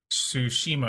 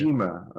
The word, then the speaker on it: Tsushima: Tsushima, I believe, Tsushima.